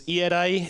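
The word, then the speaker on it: Ierae: as GMO Cybersecurity by, this is a little difficult to pronounce in English, but it's Irai. It's Ierai in Japanese, a little bit easier to pronounce.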